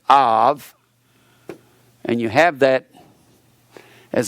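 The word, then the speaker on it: אב: Actually, ab is pronounced av, and you have that as a part of that word.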